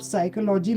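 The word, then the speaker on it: psychology: आपको कमियां बताता हूं जब आप साइकोलॉजी लिखते हो तो उसमें पी क्यों लगाते हो आप सामने वो बचपन से पढ़ा है साइलेंट होता है मतलब पी साइलेंट मतलब क्या है इसका उसको साइड प्रोनाउंस नहीं करते ओके ओके सुनो हम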